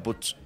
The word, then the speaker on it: Puig: El Pincho, no, porque decían Puig. Vive P-U-I-G y se pronuncia Puch.